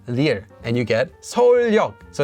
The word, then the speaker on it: 서울역: So Seoul Station is pronounced as 서울역, 서울역. So it adds, wait a minute, this is not a ni은.